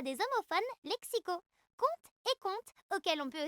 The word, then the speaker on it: conte: Comte et conte, ça se dit pareil.